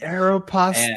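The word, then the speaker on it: Aéropostale: my way to where I worked which was Aeropostel at the the mall back in the day. Aeropastel.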